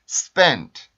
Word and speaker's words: spent: spent, spent, spent, spent, spent, spent. 네, 이런 식으로 발음이 돼요.